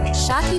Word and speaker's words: Shaki: Shaki here, the one that rhymes with hockey, and it's short for Shakira, like the singer.